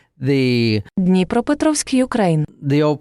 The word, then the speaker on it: Dnepropetrovsk: So it's now called Dnepro, but it was called the Dnepropetrovsk, Ukraine. The old pronunciation of this is Dnepropetrovsk.